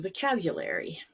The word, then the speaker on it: vocabulary: And you can see at the bottom here that vocabulary, the stress is on cab, and the a is the one that's longer. And the whole syllable is higher and louder as well.